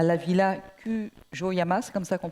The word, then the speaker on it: Kujoyama: Vous êtes allé en résidence à la Villa Kujoyama, c'est comme ça qu'on prononce.